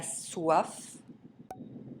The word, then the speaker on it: soif: C, R, F, and L are pronounced as final consonants. Avec, le trafic, un déclic. Hier, la mer, en hiver. 9, la soif, un apéritif.